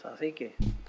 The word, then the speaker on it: Cacique: There's a 2nd crown that's called, I can't pronounce it, it's CACIQU. Cacique.